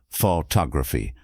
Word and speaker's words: photography: But in the word photography, the stress shifts to the second syllable photography.